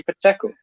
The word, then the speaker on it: Pacheco: That's exactly how you say it, Pacheco.